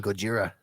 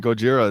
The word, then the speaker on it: Gojira: godzilla yeah i mean gojira is like i think how it was initially like pronounced okay so you watch